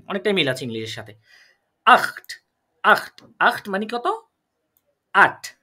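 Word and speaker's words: acht: আর এটা জিবেন অনেকটাই মিল আছে ইংলিশের সাথে আখ মানে কত আট বা এইচ যেটাকে বলি আমরা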